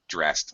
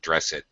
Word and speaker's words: dressed: know shower yeah right and dressed with the T dressed I get dressed dressed dressed yeah not dress it and uh and that's